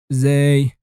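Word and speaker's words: ز: on top of it, and it sounds exactly like the Z of zero. You say Z, Z, Z, Zay.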